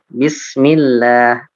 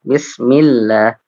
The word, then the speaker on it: Bismillah: Kalau sebelumnya berharokat kasroh maka tidak, seperti Bismillah. Ya, itu tipis lamnya. Bismillah.